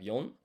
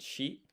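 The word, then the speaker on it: 四: So 4, by the way, there are 2 ways you can say this. So you have yon and shi.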